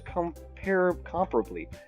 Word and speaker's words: comparably: Yuri, who appears comparably. That word is pronounced comparably, not comparably. If any of you mispronounce that word, that is like one of the ones that gets me the most.